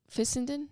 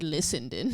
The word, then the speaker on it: Fissenden: Fi Sen Den. Fissenden. Yeah, I I heard Lissendon.